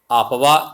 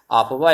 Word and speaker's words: Aufbau: सबसे पहले हम आपवा नियम पढ़ेंगे। यहाँ पे आपवा नियम, तो आपवा क्या है देखेंगे। आपवा आपका स्पेलिंग है इसका AUFBAU, यह जर्मन भाषा का एक शब्द है।